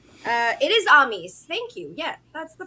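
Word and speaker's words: Amys: a chattering in my ear on your own pronunciations uh it is ami's thank you yeah that's the first one i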